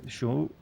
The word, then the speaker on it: chat: Say cat in French chat, you have to pronounce a shushing sound and drop the T sound at the end.